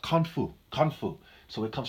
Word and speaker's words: Kung Fu: So Khan Fu is pronounced Kung Fu.